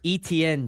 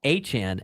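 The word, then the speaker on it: Etienne: people at Clemson that his name is Achan and they just would call him ETN and so he just let them call him ETN and then he was called Travis ETN Jr. in Jacksonville. That's what all the broadcasters call him. Everybody calls him that. He signs with New Orleans and he goes, "My name's actually a Chan."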